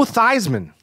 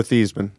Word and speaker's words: Theismann: This college changed the pronunciation because of his Heisman, Theismann.